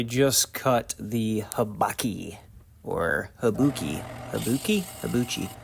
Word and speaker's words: habaki: right there, I just cut the habaki, or habuki. Habuchi? I believe it's pronounced habaki.